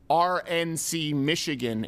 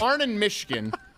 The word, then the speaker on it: Arnon Mishkin: I thought she was trying to say RNC Michigan and mispronouncing it. But it's Arnon Mishkin is the person who is in charge of the Fox News decision desk.